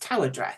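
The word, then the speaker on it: Tywardreath: written Tai wre but I found out it's pronounced Tower Dre and underneath it was written the house on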